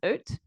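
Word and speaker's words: EUT: And the other band is Oat, which is spelled And how do you spell that? E-U-T. Thank you. Yeah, of course it is, because Dutch and E sounds.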